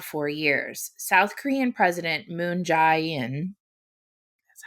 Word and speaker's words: Moon Jae-in: missile in around four years south korean president moon jae-in that's how you say his name has urged